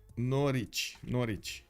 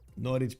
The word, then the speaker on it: Norwich: Norwich. Okay. Kind of rhymes with porridge. Yeah. Norwich porridge. Google Norwich pronunciation, you can hear it.